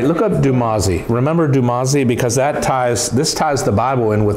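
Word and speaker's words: Dumuzi: a son of aphrodite now how did you spell that because that that's jumasi yeah d-u-m-u-z-i but i'm saying dumasi is that is the spelling used in the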